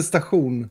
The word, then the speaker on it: station: We pronounce it stachun.